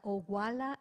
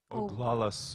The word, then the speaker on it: Oglala: fred lee shelton a member of the oguala zhuk tribe did i pronounce her correct oglala tribe oh there you are thank you lakota